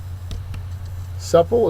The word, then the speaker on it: supple: Supple is next, and think of a gymnast when you think of supple. It's an adjective, first syllable is accented.